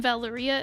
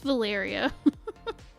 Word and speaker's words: Valyria: Also, I pronounced Val's name Valeria. It's Valyria. Yep.